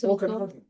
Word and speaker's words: Okanagan: Okanagan.